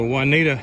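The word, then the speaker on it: Juniata: of Duncan is the juanita River is how I pronounce it they may be pronounced differently but that's the way I'm gonna pronounce it pretty nice wide river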